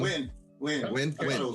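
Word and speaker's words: Yeun: Stephen Young. Win.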